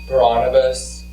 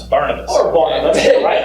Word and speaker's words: Barnabas: his first missionary journey braunabis can we get a ruling from the judges yeah yes how did i say it wrong yes pronounce barnabas there you go all right